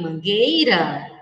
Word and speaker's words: mangueira: e mangueira não criança quando nós falamos água nós pronunciamos a letra U água nós ouvimos a o som da letra U mas quando nós pronunciamos mangueira não ouvimos o som do região só Mangueira nós não escutamos o solo porque o correto é